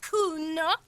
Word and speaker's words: Kuno: And you fucking asked me to nick it, Kuno. No, I didn't. It's fucking Kuno. Say it right, bitch. Say it like it's said. Kuno. That's an Oranese name.